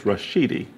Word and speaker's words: Rashidi: And his name is Rashidi. Did I pronounce that right?